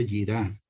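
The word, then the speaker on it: יראה: Strong es la H3374 y se pronuncia yirá.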